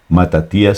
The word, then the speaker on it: Matatías: Igual que Matatías sí está bien pronunciado, porque Matatías es en griego y se traduce en hebreo, que es Matías.